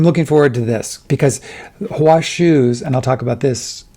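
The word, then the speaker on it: Hua Hsu: It's strange because as I'm reading it, suddenly I just finished Stay True by Hua Shu, and I have the pronunciation of his name correct because I listened to it on audio.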